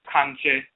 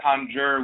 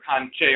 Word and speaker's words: Kankye: And the person would say that Kankye. They would assume that we were saying conjure. Instead of saying conjure, we were saying conjure or kanje. And they say, oh, well, they're just mispronouncing conjure. And what they're really saying is conjure. We were saying Kankye.